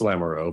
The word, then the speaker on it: Lamoureux: Is it Lamoureux or Lamoureux? It's Lamoureux, but it's I accept that people mispronounce it.